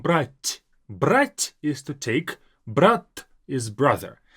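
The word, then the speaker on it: брат: The difference is in the very last t. Brat. More like a doll, not even almost heard sometimes, letter t. Brat. That's brother. Now, brat is to take. Now, this t versus t difference, you have to master it, you have to get it, but brat is brother.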